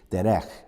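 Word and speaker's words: דֶּרֶךְ: And the Hebrew rendering of the meaning for the word way, I think the word, if I pronounce it correctly in the Hebrew, is derech.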